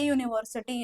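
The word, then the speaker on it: university: युनिव्ह्सिटी नाही तर ए युनिव्ह्सिटी येत बॉज याच जे प्रोनन्सिएशन आहे ते वाय य सारख येतय आणि य किंवा वाय हा कॉन्सोनंट मध्ये येतो म्हणून ्याच्या समोर ए लागणार य लागणार नाही उच्चार य आहे म्हणजेच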